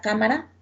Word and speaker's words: cámara: es la antepenúltima sílaba es prácticamente la tercera sílaba mire aquí tenemos la palabra cámara tenemos la palabra teléfono mire hará primera sílaba